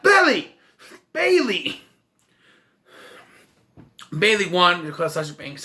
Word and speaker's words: Bayley: by michael cole when he calls her belly it's belly i'm like no it's bailey that's even how it's spelled bae lee say it right or